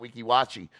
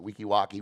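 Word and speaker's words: Weeki Wachee: Wekiwachi, or what Harry pronounced it, Wekiwaki, would move into the A spot because Denellen loses tonight to Hawthorne.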